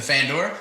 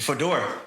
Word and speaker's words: fedora: Oh, you come up, because I'm thinking like get the was it the Fandora? Am I saying it right? The fedora. What'd I say? The Fandora. Fandora. Goodness gracious. The fedora.